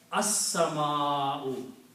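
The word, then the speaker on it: السماء: So whenever you have a seen here before lam, then sound of lam is killed.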